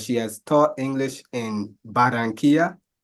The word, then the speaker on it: Barranquilla: Her name is Talea Phillips, and she has taught English in Barranquilla. I opted for the Spanish pronunciation, of course, and Madrid.